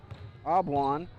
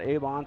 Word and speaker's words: Abwan: It's Abwan, not Avon, so I am sorry about that.